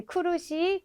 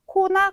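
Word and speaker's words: 苦: 뭐 발음이 상관 있는 건 아니지만 네, 쿠르시, 쿠난 이렇게 같이 연결을 해서 외워두시면 나중에 헷갈리는 일이 조금 덜 생길 것 같은 생각도 듭니다. 그래서 코나 코가 아니라 기본 발음이 쿠예요. 쿠.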